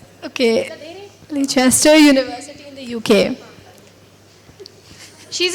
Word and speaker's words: Leicester: The spelling is a little different, but pronunciation is Leicester.